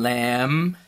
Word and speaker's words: lamb: Then we have the MB, spelling at the end, like in thumb, and lamb, comb. You don't hear the B sound, but it's spelled with a B.